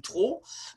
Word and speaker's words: trop: some cases we have a consonant that's not normally pronounced, like the P in trop, but in some circumstances it might reappear. Il est trop important.